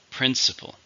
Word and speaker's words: principle: How many syllables? Principle. 3, stresses on the first.